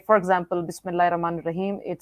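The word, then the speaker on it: بسم الله: It says, if you read, even when you pronounce the Bismillah Rahman Rahim, you can hear we are not saying Allah. We are saying Bismillah Rahman. We don't say Bis Allah. No, nobody can say it.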